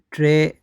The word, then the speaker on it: treinta: treinta, Treinta. Break it down. So TRE, let's have it like one part of the number. IN, in, and ta. Treinta.